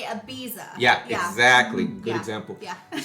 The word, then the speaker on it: Ibiza: Ibiza. They say Ibiza, Ibiza, yes. and we say Ibiza.